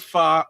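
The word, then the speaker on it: pho: So f um he Yeah, it's it's called fa. I don't pronounce it fa. I pronounce it faux all the time.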